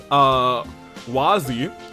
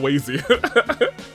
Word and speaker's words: Wazi: Wazi, not Wazy.